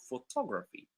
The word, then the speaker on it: photography: So you can notice that in the word photograph, it's the first syllable that is stressed. But in the second one, photography, it's the second syllable that becomes stressed. So not all the words